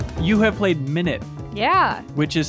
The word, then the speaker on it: Minit: you have played minute yeah which is spelled mi nit yeah not meant but minute